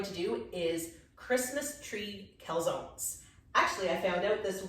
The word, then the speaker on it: calzone: do is christmas tree calzones actually i found out this week that it's actually pronounced calzone oh yeah this is italian but you know we have to english everything you know americanized and